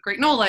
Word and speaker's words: Gr8nola: the number eight in great nola and there's a fun play on words right where gr8 can be pronounced as the word great um initially i wanted